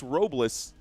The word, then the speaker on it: Robles: Jojo saying it's pronounced Robless. Thank you, Jojo. Technically, it's pronounced Robless.